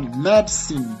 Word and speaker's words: medicine: Et pour terminer, on a medicine, medicine, medicine, medicine. Le dit ne se lit même pas en fait.